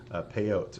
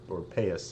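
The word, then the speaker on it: פאות: get the custom of those payouts or sometimes I pay us and Ashkenazi pronunciation so if you've wondered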